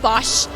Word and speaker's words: Bosch: Um it's called Bosch. B O S C H is how you spell it. Um like the appliances.